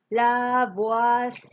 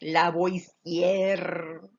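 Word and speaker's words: Lavoisier: piel quien el plan con la uas lago la uas y no quiero que digan antoine laurent- la voice jr así como si tu nombre se pronuncia y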